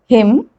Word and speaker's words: hymn: N is not pronounced when it comes after M at the end of a word. For example, column, hymn, autumn, solemn, condemn.